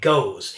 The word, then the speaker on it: gose: be tasting the beer is known as a goes and it is spelled g-o-s-e now goes style beers sometimes get